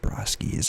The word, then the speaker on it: Brosky: hi my name is Brosky pronounced barosky's I've already explained I